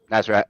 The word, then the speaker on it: Nasrat: On a fight breakdown, is it Nasrat? Is that how I pronounce it? Yeah, Nasrat. Yeah, Nasrat.